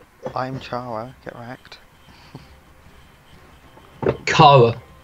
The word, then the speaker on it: Chara: Chara, hard C. I don't know, some people say Chara, I say Chara. It's based off the word character, so...